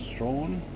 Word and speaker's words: Strahan: And we're going to head over to the west coast, a little village called Strawn. Or Strawn as it's spelt, but it's Strawn, apparently.